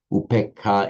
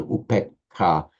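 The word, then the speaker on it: upekkhā: But in Pali it becomes shorter, upekha, because it's followed by a doubled consonant, double k.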